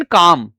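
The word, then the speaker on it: calm: I should remain काम। ठीक है? यह काल में नहीं होता। एल साइलेंट होता है।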